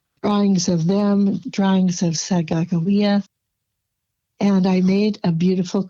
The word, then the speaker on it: Sacagawea: I used to say Sacagawea, but she told me, no, it is Sacagawea.